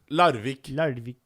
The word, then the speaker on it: Larvik: Larvik.